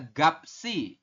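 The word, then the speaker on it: 값이: Ya, bukan gapet i tapi dibacanya adalah gapsi.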